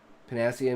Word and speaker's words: panacea: Panacea. Emphasis on the sea.